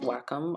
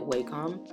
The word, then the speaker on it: Wacom: work um I'm sure yeah I know it's pronounced Wacom I pronounce it wcom but that's how I create my illustrations we